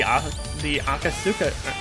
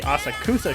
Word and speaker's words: Asakusa: Yeah, the one that sent us to the Akasuka. Yeah, the Akasuka shrine. エデンスポットにそんな秘密があったとはな。要は流脈みたいな道ができてるってことだろ。 Oh wait, no, I mispronounced that. It's the Asakusa shrine, which I mistakenly called the Asakura shrine at one point.